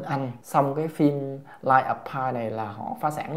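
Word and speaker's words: Life of Pi: Xong cái phim Lie of Pi này là họ phá sản luôn. Đọc là Lie of Pi nghe, chứ không phải là B nha bạn. B là sai nghe.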